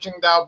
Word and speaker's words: Qingdao: She said, it's not pronounced Tsingtao, it's pronounced Qingdao.